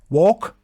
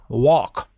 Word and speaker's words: walk: we have talk remember we do not pronounce these L's walk talk this sounds o Americans say a walk talk you can look